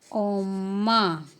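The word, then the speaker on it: 엄마: और किस तरीके से हम प्रोनाउंस करते हैं उसको। चलो, तो हम मॉम को बोलते हैं कोरियन में ओम्मा।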